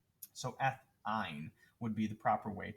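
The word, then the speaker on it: -yne: when we change the triple bonds we use ein not wine i guess or however we also want to try and pronounce it it's pronounced ein so ein would be the proper way to do this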